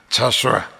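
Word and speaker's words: Joshua: 그 영어 성경적 프로넌세이션이라고 발음으로 말하면 이게 자수아라고 합니다. 자수아.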